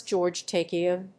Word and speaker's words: George Takei: And they pronounce George Takei's name wrong.